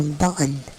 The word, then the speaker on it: button: Um, if I'm going to do the freaking how they teach it, you know, botan. I really don't like I don't like to say bacon. I rather pronounce the T.